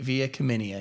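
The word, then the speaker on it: Via Comenia: to start with I'm going to get the name wrong say it again for me via CIA VI via cenia yeah that's right I knew I was going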